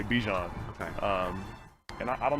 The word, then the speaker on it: Bijan: been pronouncing your name how you pronounce my name is is Bijan okay that's how you say my name but I say I say Bijan okay um and I